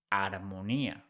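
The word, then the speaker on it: armonía: mute we don't pronounce h in Spanish so whereas in English we say Harmony in Spanish we say aronia without pronouncing H let's see the next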